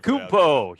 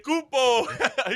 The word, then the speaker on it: Antetokounmpo: Hopefully I pronounce his name right. Everybody butchers it, but we still love it. Antetokounmpo, you're right. Antetokounmpo.